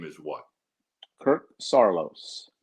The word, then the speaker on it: Saarloos: Kirk's correct pronunciation of his last name is what? Kirk Saarloos. Sarlo. Saarloos.